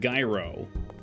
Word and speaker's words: gyro: that's what I said gyro G there's a big G there G o not yo you'd have to be